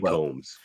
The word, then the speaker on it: Combs: He could be, but Coombs. I mean, when this show came out, I didn't notice. It's definitely Combs.